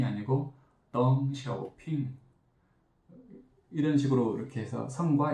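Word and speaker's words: 邓小平: 이런 미국 이름만이 아니라 가령 중국 이름이라면 덩샤오핑, 리샤오롱 이런 이름은 그 자국어의 발음으로 해석해야 됩니다. 등소평이 아니고 덩샤오핑 이런 식으로 이렇게 해서 성과 이름을 분석하면 기가 막히게 나와요.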